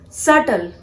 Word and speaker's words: subtle: Here B has to be silent. You have to pronounce this word as subtle, not subtle.